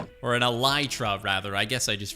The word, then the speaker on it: Elytra: pretty epic not only do I have an Electra or an Ely truck rather I guess I just realized I said